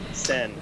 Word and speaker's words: Senn: Well, and the last name is Sen. Is that how you pronounce it? Sen.